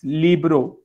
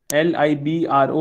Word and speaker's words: libro: to hindi than english our word yes i'll pronounce uh libro again for you it's libro l i b r o libro next is uh n english me and